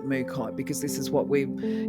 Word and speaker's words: Mookaite: Um, and frankly to be honest, I actually think that the pronunciation should be Mukite, but I'm going to go with the um, basically the consensus that everybody calls it Mukite because this is what